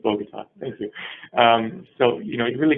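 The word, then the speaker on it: Bogotá: Michael tells me it's Bogota.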